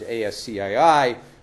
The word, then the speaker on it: ASCII: a character is known by these five letters ASC III which is pronounced ASCII and all it is it's really